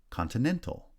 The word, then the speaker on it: continental: on the first syllable continental secondary stress on the first syllable and then primary stress on the third syllable modify now modify actually